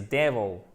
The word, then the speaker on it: devil: Déjà, c'est devil et pas devil ou devil, non, devil. OK? Accent tonique ici, là, vous avez un E. Devil.